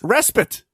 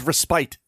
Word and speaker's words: respite: was mispronounced yes yes in the original game he says respite oh yeah okay as in to spite again like I'm gonna do